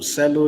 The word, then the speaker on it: Celo: So we'll go to Cello USDT. Cello is spelled CELO, okay?